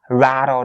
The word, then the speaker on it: rattled: The ED part here at the end of the word rattle is actually the D sound.